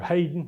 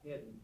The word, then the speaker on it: Hedden: How do you pronounce that? Hedden. Yeah. I've seen it both ways and people will I've actually had people almost fight me over how to pronounce Heden Hayden's last name.